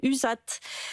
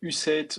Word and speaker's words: USAT: Alors effectivement, alors on prononce U7 ou alors en bon anglais USAT pour la référence aux États-Unis.